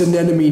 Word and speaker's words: anemone: Clownfish live in anemone. It's pronounced anemone, Nemo.